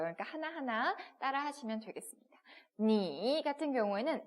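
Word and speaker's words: 你: n하고 i가 합쳐졌으니까 니라고 읽고요. 거기다가 삼성이 들어왔습니다. 그죠? 니 이렇게 가는 거예요.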